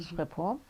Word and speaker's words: Schiphol: and it's spelled S-C-H, That's okay. Schiphol.